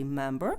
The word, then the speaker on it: member: Here Tree Apple member От бачите слово member Оце ж буква ри в кінціна не чується але якщо наступне слово буде починатися на голосну то тоді ця ри буде теж читатися member her Yes рухаємося